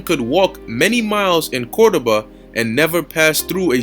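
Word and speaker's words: Córdoba: so it says um cordoba all right even though it's pronounced with a v um so let's read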